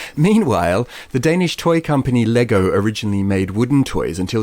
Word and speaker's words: Lego: right up top that the official pronunciation which i'm not expecting us to stick to but it needs to be said is lego it is lego even though no one